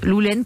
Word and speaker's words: Loulenn: de loups l'aisne loulle39 on prononce lolene comme la laine c'est une marque de